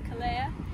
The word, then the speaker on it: Calella: Say it as Calella because two L's in Spanish means a Y. You pronounce it as a Y, so it's Calella.